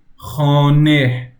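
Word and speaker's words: خانه: I would say that for a word that ends with he, you would say khane, khane. The he sound is kind of there when you're speaking, okay? Khane, khane. We don't pronounce the he that much, but it kind of is there.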